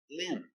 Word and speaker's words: limb: If you lose a limb, limb. L. I lit. Short sound. I it I lit. Limb.